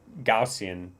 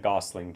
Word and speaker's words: Gaussian: It's actually the Gaussian channel. It's not the Gossling Channel. It's the Gaussian. Yeah, that's how you say it.